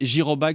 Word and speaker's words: Jyrobike: ans vous pouvez déjà les précommander sur Internet girobike ça s'écrit j y r o B i k